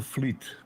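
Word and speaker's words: Vliet: v-l-i-e-t and from Fleet Fleet so that that V is like an F yes okay wonderfleet okay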